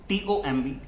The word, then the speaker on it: tomb: जैसे कि COMB com, TOMB tom, NUMB num, CLIMB climb. So M के बाद अक्सर जो B होता है, that is most of the time silent.